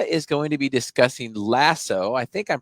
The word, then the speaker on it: Laso: podcast today noah is going to be discussing lasso i think i'm pronouncing that right he'll correct me if i'm wrong and is it right yeah iso 1s lasso lasso okay and it is like the amazon